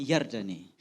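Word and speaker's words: ירדן: kata Yordan di dalam terjemahan aslinya itu adalah yardane apa saudara yardane bacanya yardane nah yardane ini kalau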